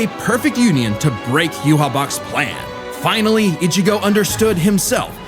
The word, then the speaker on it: Yhwach: Just in time for a 1,000-year blood war with a final endgame boss, Yhwach.